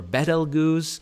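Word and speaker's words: Betelgeuse: by balatrix and beetlejuice you've probably heard of beetlejuice before or betelgoose as some are in some pronunciations but of course its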